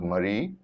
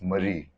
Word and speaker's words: Marie: You say Mary, and then with an IE, it's Marie. So a little bit of pronunciation because like IE is usually the French spelling and Y is usually the westernized spelling.